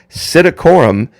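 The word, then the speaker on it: psittacorum: also means royal so royal parrot citacorum psi silent p t t a c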